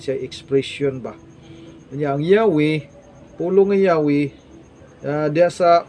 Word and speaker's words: Yahweh: YHWH pronounced nag Yahweh o nag translate ni siya mga kaigsunan og Ginoo o Dios.